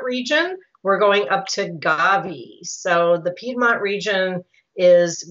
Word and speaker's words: Gavi: And it's just pronounced Gavi, historical region dating back to 972, the year 972.